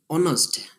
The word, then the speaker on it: honest: දැන් බලන්න honest man කියනකොට h අකුර තිබුණත් අපි ඒක කියන්නේ නැහැ. ඒ කියන්නේ silent letter. එතකොට එතන උච්චාරණය වෙන්නේ honest.